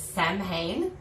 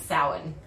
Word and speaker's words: Samhain: i knew how it spelled and i was pronouncing it for the past like 20 years samhain and i've discovered this week i was this years old when i learned that it was sour which is bad and we realized that i